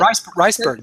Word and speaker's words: Reisberg: Reisberg, is it? Reisberg, Mira Reisberg, yeah.